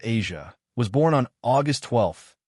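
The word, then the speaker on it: Eja: Their son, Asia, pronounced Asia, was born on August 12, 2001.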